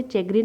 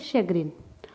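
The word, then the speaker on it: chagrin: आज का अपना पहला वर्ड है शग्रीन। शग्रीन, आप इसे चेग्रीन नहीं रीड करेंगे, इसका जो करेक्ट प्रोनाउंसिएशन है वो है शग्रीन।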